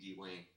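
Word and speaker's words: D-Wayne: He says there's no space between the D and the Wayne. It's not even 2 syllables. It's 1 syllable. It's a hyphen. There's a hyphen in between D and Wayne.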